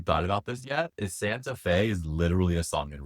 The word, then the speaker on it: Santa Fe: Rhymes with gay. Santa Fe.